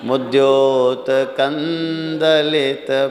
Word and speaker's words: मुद्योतकं दलित: लेकिन मुद्योतकम, दा है सामने, तो वो अनुस्वार का उच्चारण ना जैसा हो, ना। ता था दा, दा जिस ग्रुप का है उसमें अंतिम में क्या है? ता था दा धा ना, तो ना का उच्चारण होना चाहिए। मुद्योतकन दलित, मुद्योतकन मुद्योतकंद, माँ नहीं पढ़ेंगे।